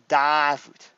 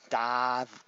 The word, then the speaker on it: Davut: It's Davut. Davut.